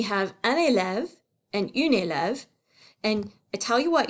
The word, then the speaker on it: élève: you what, you guys, everybody pronounces this word elves. These are not elves, they're children, they're students. So we say une élève, and for a guy, un élève. Élève is 2 syllables. Elves is 1 syllable.